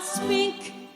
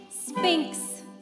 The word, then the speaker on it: Sphinx: You're as tight-lipped as an oyster and as silent as an old Sahara spink. Sphinx. Huh? Sphinx. Spink. You spell it with an X.